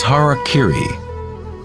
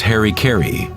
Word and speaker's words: harakiri: suicide or seppuku was harakiri was often mispronounced as Harry Cary it means to impale